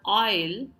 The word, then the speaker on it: aisle: In the next word, aisle, the S is silent.